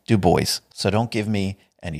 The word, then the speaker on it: Du Bois: Du Bois, and Martin Luther King Jr., has also been a warrior for freedom of expression." And yes, his name is pronounced Du Bois, so don't give me any shit about that one, guys.